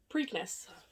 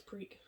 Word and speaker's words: Preakness: I think I'm pronouncing that right. Preakness. Preakness. No, I think it's Preak. P-R-E-A-K. Preakness.